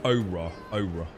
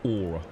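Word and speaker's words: Au Ra: day oh aa oh it's pronounced AA Ora not like aura or oh the a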